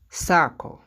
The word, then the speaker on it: circle: Ça se prononce miracle, qui signifie miracle en français. Oracle. Oracle. Oracle. Circle.